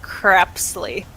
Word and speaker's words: Crepsley: fact that um crepsley i kept saying creepsly because i think that's how i pronounced it as a kid but in the audiobook they pronounced it crepsley yeah i pronounced it wrong but that's just i